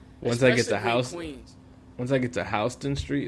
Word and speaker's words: Houston Street: it's over for me were you the person arguing that it wasn't pronounced houseon Street yeah it was me at first I was like oh we on Houston a or whatever and they